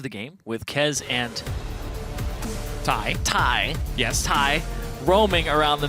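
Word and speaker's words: Thy: I'm like, Thigh, it's Ty. Yes, so it is spelled T-H-Y, but pronounced Ty, and he is replacing Do It for TDK in the mid lane.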